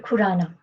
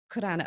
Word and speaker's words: Khurana: last name because I don't know how to spell that it's Khurana Khurana okay because kedge it's like my name but